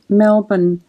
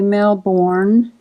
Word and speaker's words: Melbourne: easily just say Brisbane the same we say Melbourne we don't say male born yeah but we don't say male born but they say Melbourne like you say Melbournians